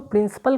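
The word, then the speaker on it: principal: रखिएगा, दोनों का देखिए, अगर प्रोनाउंसिएशन की बात करते हैं प्रिंसिपल का तो दोनों का उच्चारण एक जैसा होता है। प्रिंसिपल की बात करें या फिर हम प्रिंसिपल, ठीक है, प्रिंसिपल की बात करें, दोनों का मतलब अलग होता है, उच्चारण हालांकि एक होता है।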